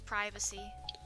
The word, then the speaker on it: privacy: It's just how we say It's how we say privacy over here in England. Yeah, that's the common pronunciation of it. It's privacy. Yeah.